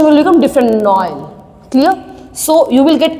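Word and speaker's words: Noël: When you will put trema, Noel means Christmas, the pronunciation will become different, Noel.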